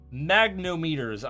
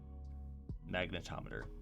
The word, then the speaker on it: magnetometer: parking system, which uses magnometers. I'm gonna call them magnometers because I can't say magnetometer. So, magnetometer. That's probably closer to how it's actually supposed to be pronounced.